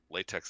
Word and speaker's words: LaTeX: but I don't know why that latex that didn't prove anything.